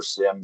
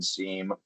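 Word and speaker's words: SIEM: SIM seam, there's a multitude of different ways to pronounce it.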